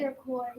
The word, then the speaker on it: Iroquois: How do you pronounce that? This is Iroquois. Iroquois. Can you guys say Iroquois?